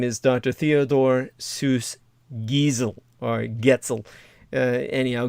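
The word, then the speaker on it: Geisel: is Dr Theodore Seuss gizel or gel anyhow gizel it's like diesel but you pronounce it with a G you know he uh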